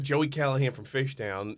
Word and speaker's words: Callahan: cabbage punks yakobit and she gets she goes kalanin kalanin kellan and I raised my hand she how do I pronounce this I go it's pronounced callahan sister and she looks she goes I'm not